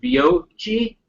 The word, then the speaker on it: Beoci: that, uses a solution from an organization called Beoci. It's spelled B-E-O-C-I.